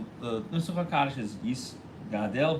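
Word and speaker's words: יִתְגַּדֵּל: Hebrew, and so therefore the Daled should be pronounced in both of them with a tzereh, the A sound, the two dots underneath. Okay? And you shouldn't pronounce it with a shva or a patach.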